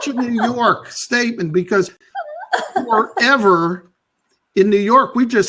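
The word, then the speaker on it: Ewa: heritage I'm polish so my name is e wa but the W is pronounced like a V so it's ever see I thought it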